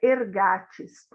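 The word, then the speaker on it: ἐργάτης: Como obreiro, esse obreiro aqui em grego se pronuncia ergates, e eu anotei aqui a tradução dessa palavra do original.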